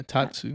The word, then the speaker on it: Tatsu: line for a tattoo is that how you say it yeah Tatsu Tatsu I hate that right